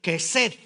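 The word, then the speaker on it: חסד: es la palabra hebrea Hesed, K de kilo, J-E-S-E-D, y pónganle un acento en la primera E. K de kilo, J-E, y ahí le ponen un acento, S-E-D, Hesed.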